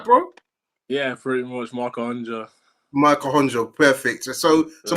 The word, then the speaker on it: Ahondjo: Did I get that pronunciation right, bro? Yeah, pretty much, Ahondjo.